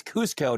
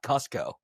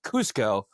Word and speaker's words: Cusco: It is Cusco, not Cusco. Okay. For anyone that wants to know, it's technically they're Japanese, and it's pronounced Cusco, not Cusco.